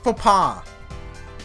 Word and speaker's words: faux pas: I think the X is silent, right? No, that's not what I... Faux pas. Faux pas.